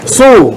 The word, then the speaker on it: Sewell: No, actually, the last name is Sewell. Sewell.